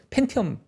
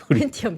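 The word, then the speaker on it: 펜티엄: 아니 우리 제 뭐 약간 가장 보태서 예전에 이제 팬티엄 처음에 팬티엄 팬티엄 발음 잘하세요. 팬티 아니고 팬티엄 팬티엄 그때 이제 너그리 게임 하면 앞정을 이렇게 뛰어 넘어야 되잖아요.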